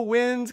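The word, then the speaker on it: Nguyen: so i'm like whoa wind kind of sounds like or my last name is win n-g-y-e-n people always mispronounce it which is cool it's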